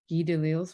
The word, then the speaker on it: Guy Delisle: I like, do I find inspiration in how am I gonna, Guy Delisle's work? Am I pronouncing that right?